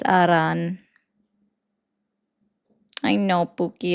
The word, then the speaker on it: Iran: It's not an I, it's an E. I know you want to try so hard, but it's not Iran. It's Aran.